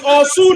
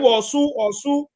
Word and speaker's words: Osu: If you pronounce it good, then I can understand. But your pronunciation is very wrong. So it's Osu now. They call it Osu.